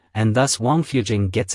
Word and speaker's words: Wangfujing: of the few with sweet tasting water the pronunciation of well in Chinese is Jing and thus Wang fujing gets its name both the complete map of